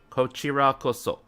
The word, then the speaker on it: こちらこそ: こちらこそ Kochirakoso. Kochi. こちらこそ Kochi. It's not she, it's chi. Kochirakoso.